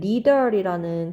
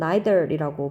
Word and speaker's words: neither: 영어 듣기 발음에서는 neither이라는 표현도 쓰지만 미국식, 영국식으로는 neither이라고 발음하기도 합니다.